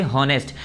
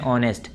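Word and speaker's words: honest: अब आप लोग पढ़ते होंगे इसे हॉनेस्ट, ये हॉनेस्ट नहीं होता है, एच साइलेंट होता है, एच की आवाज़ नहीं निकलती है।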